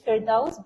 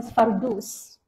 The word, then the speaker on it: Firdaus: Like my professor, her name is Firdaus, but in Egypt, the Egyptian, they call them Fardus. So it's totally different.